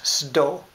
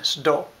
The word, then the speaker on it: sdo: said that it was sdo. And that is true, that is our one word that we use very common, sdo, which is just the word stove, mispronounced, you know, from the English.